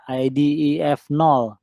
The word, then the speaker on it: IDEF0: Kemudian ada lagi yang ini IDEF0, ini bacanya gitu ya, IDEF0.